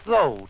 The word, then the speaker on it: THO: If you desire strength to help you carry on your work while you recuperate from some exhaustion, use THO, T-H-O, with accent on the TH, as follows.